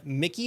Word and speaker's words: Mici: There's a project from Mici Mike, I think that's how you pronounce it, M I C I Mike, that might just change that.